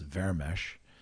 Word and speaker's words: Vermes: in Hungarian, he said, my last name in Hungarian is pronounced Vermes. And he basically said, Vermes, do you speak Hungarian?